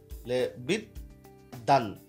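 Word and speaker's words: বিদ্বান: তাহলে এখানে বফলার উচ্চারণ না হয়ে দটাই হচ্ছে দ্বিত্ব হয়ে গেল, বিদ্যান এরকম হয়ে গেল আর কি।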